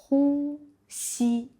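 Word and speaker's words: 呼吸: On peut apprendre un peu plus sur le mot respirer, qui se prononce hu, si. Hu, tu te souviens, c'est expirer. Si, c'est inspirer.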